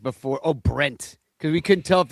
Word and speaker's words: Brent: Are you just like Brett with a stuffy nose, Brent? Oh, I hate when people say Brett, but they can't pronounce Brett and they say Brent all the time. God, my name's Brent.